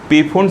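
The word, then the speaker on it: Pfund: के लिए अब देखिए फंड सीरीज क्या होगा ठीक पी साइलेंट है ठीक अपने दिमाग में पूर्ण रखिएगा लेकिन ये जरूर दिमाग में एक चीज रखिएगा की पी से शुरू होता है इसीलिए बीपी वाला शब्द मैं उसे किया ठीक ताकि दिमाग में तो इसको क्या कहेंगे पूर्ण सीरीज के आएंगे जहां पी क्या साइलेंट है तो अब क्या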